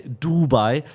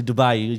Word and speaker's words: Dubai: Dubai um Dubai in Germany some people say Dubai but it's actually Dubai you pronounce the E the last the last I